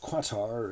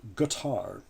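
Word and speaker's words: Qatar: is spelled q-a-t-a-r and it's not pronounced quattar it is in fact pronounced guitar uh the ship shown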